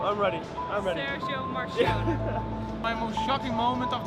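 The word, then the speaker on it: Marchionne: How do you pronounce it? Marcione.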